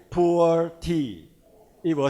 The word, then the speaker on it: Pu'er: The traditional Pu'er tea, and they are Pu'er tea in China, pronounced as Pu'er, and then from now on, Atomy pure tea will make it Pu'er tea.